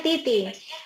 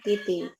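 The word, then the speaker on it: 滴滴: Oke, ini bacanya Titi. Tulisannya Didi ya, tapi bacanya Titi.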